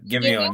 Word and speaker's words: Giveon: Giveon. Oh, Giveon. Yes. Yeah, yes, you said it right. Giveon.